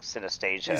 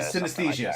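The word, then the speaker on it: synesthesia: It's like sastia. Senesthesia. Senesthesia. Yeah.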